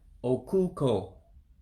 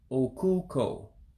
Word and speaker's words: okuko: the sea coast uh you would first remember that the first o there if you want to call it that because evo pronounces the letters differently than english i'm just using english to keep it simple the first o you have to descend in your voice and that you you have to also descend in your voice so it would be okuko okuko for swell so again oh ku